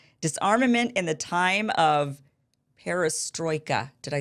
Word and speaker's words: perestroika: to say it disarmament in the time of perestroika did I say it right you did you